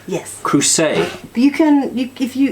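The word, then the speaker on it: Le Creuset: who say what well it's pronounced the crew say oh because it's French yes crew say you can you give you if you try to remember as a crusader just crew say duh duh duh so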